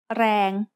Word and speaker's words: แรง: A word using the long vowel sara-e is rang, which means power. Rang has a low-class consonant and a live ending, so it is pronounced mid-tone.